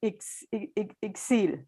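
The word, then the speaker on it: Ixil: spell it for you yoner is a i x i l and it's uh the sounds ex excel and it's going to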